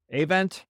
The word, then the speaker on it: Avent: make today with me I have event Avent hello did I pronounce that correctly yeah that's good is